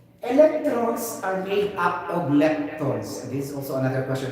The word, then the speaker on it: lepton: Lipton na to, gahi ito siya, di ba? I forgot. Lipton or lepton? Nakakalimutan ka. Okay, this is lepton, not lipton.